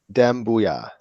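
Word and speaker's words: Doumbouya: Seku, Dembuya. So Dembuya. Booyah like Stuart Scott.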